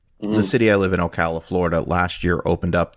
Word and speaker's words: Ocala: a horror con there called forgive me from pronounces correct it's Ocala we live in I think it was called